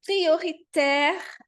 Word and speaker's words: prioritaire: Aí tem mais um nasal que eu adoro, uma combinação que eu adoro, que é o som AI, que tem o som de é aberto, vamos dizer, é de café no português, tá?